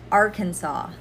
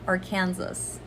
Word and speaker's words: Arkansas: not bargain bargain numbering arkansas arkansas not or kansas arkansas next one daiquiri daiquiri